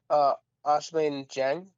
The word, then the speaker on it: Ousmane Dieng: Ousmane Dieng.